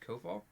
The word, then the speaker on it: Koval: I think your name is pronounced Koval? Koval? Koval, there's a V, not an F.